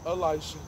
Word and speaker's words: Elisha: deodorant it's working good my name is elisha it's pronounced elisha and i would be